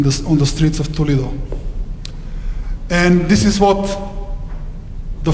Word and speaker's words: Toledo: when the city of Toledo This Is How They pronounced in Spain not too little Toledo the city of